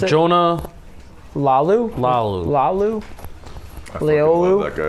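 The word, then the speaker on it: Laulu: How do you pronounce it? Jonah Lalu.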